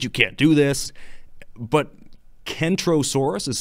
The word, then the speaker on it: Kentrosaurus: can't do this but Kentrosaurus is spoken with a hard K while centrosaurus is pronounced